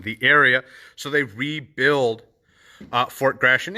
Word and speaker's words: Fort Gratiot: don't want gratitude and they don't know how to say it but fort grashan named for charles gratitt